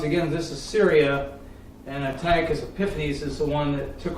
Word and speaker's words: Antiochus Epiphanes: This probably on this chart is in this area, and talking about what my understanding is called Antioch Epiphanes, otherwise how do you say it, Tom? Antiochus Epiphanes.